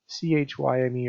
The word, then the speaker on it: chyme: goes into the small intestine is known as CHYME, or pronounced chyme, and that's the processed food that kind of goes down inside of it.